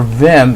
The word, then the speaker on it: Vim: is, and also for Vim, if you don't have that natively installed on your Linux system, Vim is a text editor. It's spelled Victor Indian Michael, that's VIM.